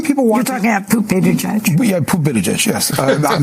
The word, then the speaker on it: Buttigieg: Young people want You're talking about Poot Buttigieg? Yeah, Poot Buttigieg, yes. I'm not trying to pronounce the name. It is Buttigieg.